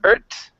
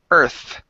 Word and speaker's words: Earth: So instead of Earth, okay, make sure that your tongue is between your teeth when you pronounce the TH. It's Earth.